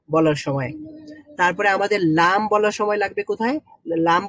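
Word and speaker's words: ل: তো ওই বিস্তর জায়গাটাই হচ্ছে পুরোটাই আমাদের এখানে লাগবে যখন আমরা লাম উচ্চারণ করব।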